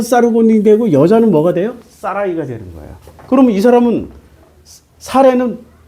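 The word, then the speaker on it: Sarai: 사라이.이 사라 사레라는 이름이 히브리어로 발음하면 사라이입니다.이 사라이가 사라이가 여자니까 사라이고 남자는 사르곤이 돼요.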